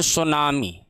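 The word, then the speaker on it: tsunami: इस चीज को कहते हैं फ्रेंड सुनामी। यह टी साइलेंट रहता है।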